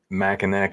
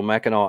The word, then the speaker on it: Mackinac: So you cross Mackinac Island and go up that way? It's Mackinac Island. There's a C.